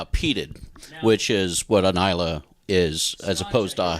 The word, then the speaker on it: Islay: Okay, and this is an Islay. Isla. Yeah. Isla is the way to pronounce that, we believe.